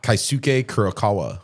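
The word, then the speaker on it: Keisuke Kurokawa: Kaisuke Kurokawa.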